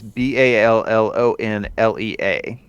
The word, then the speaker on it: Ballonlea: Bellonlier, or Ballonlea. I don't know for sure how it's pronounced. It's Ballonlea.